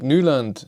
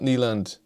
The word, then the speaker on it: Nyland: what car it is you should pronounce bjorn's last name like newland not nyland he even says that